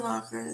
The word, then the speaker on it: Locher: The interview I saw was of Alan Locker, the locker room. And Locker is spelled Locher.